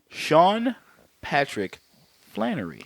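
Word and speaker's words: Sean Patrick Flanery: could drinking been drinking that's right you're forgiven Sean Patrick Flannery there we go hey as Conor mcmanis and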